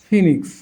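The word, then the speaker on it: phoenix: English ওয়ার্ডের শুরুতে বা মধ্যে ও ই এর উচ্চারণ ই হয়। তো ও ই, এই যে ecology, ইনফাইল, oestrogen, oesophagus, over, Oedipus, ফিনিক্স।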